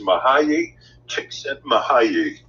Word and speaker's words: Mihaly Csikszentmihalyi: And the way it is pronounced is Mihaly Csikszentmihalyi.